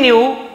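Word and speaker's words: knew: बेटा था the king न्यू that the ब्राह्मण वास very honest towards his work the king Raja न्यू जानते थे के साइलेंट है केवल न्यू पढ़ेंगे लेकिन लिखते समय k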